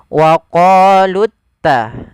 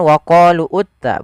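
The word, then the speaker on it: وقالوا اتخذ: Maka kita bacanya wa qalutta langsung. Bukan wa qalu utta, bukan, tapi wa qalu takhadallahu. Kemudian kha dan zal.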